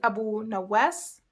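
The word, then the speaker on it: أبو نواس: It is humongous and it is pronounced Rukh. Another name is Abu Nawas.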